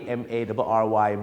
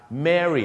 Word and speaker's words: Mary: เสียง ยัง ไง ครับ Mary อัน นั้น มัน จะ ออก เสียง สระ เอ หน่อย ฮะ Mary อย่าง เช่น ถ้า ผม